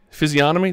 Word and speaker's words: physiognomy: Physiognomy? Did I pronounce that right with a silent G?